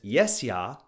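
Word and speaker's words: jes ja: easily remember the Order of that phrase is yes ya rhymes with Tesla As in the Tesla coil or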